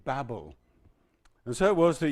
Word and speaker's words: Babel: Now, in Genesis chapter 11, we have a very sad story of the Tower of Babel, or Babel, as I think perhaps we should pronounce it.